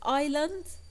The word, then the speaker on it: island: the L is silent we have the word Island and the S is silent we have the word